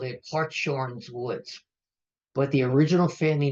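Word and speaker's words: Hartshorne: Okay, so their pronunciation, no matter how we say it, was Hart's Horn, because it's the horn of a stag.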